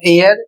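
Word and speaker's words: heir: जबकि एच का उच्चारण नहीं किया जा रहा है।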